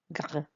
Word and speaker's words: gras: J'aime les hamburgers car ils sont gras. Well done if you say gras. Gras. Remember, you don't pronounce the S with the masculine plural.